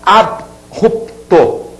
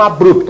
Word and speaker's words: abrupto: grupo a palavra abrupto muita gente fala abrupto tá aqui como se fosse uma regrinha né eu numere também para ficar mais prático abrupto tá e não abrupto a pronuncia não é abrupto acia é abrupto e a separação silábica